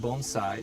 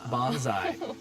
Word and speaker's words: bonsai: Um, actually, the first thing is it's pronounced bonesai, not bonsai.